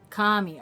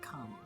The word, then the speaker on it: Kami: Kami. Ah, got you. First pronunciation was right. Kami. Like, by the Kami. Like Gosetsu says.